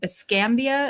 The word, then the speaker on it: Escambia: Escambia, is that how you say it?